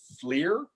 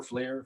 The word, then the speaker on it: FLIR: today's flick i believe believe is pronounced flir um the ticker symbol is f-l-i-r that's also the name of the company flair flare flare systems um today they closed at 36.55